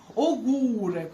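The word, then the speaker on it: ogórek: Вона як о з наголосом пишеться, але це у, тільки як у завжди читається. Вона називається у кресковане і читається як у.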